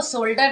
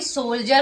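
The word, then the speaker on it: soldier: जिसका नाम था सोल्डर अरे वो सोल्डर नहीं सोल्जर होता है ओ आई एम वेरी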